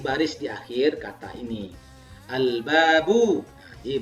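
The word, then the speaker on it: البابُ: Al-babu. Jadi bacanya al-babu. Nah, ini ketemu kita. Al-babu bukan ab-babu.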